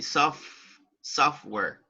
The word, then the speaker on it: software: And right here, the letter T is not pronounced. You say software.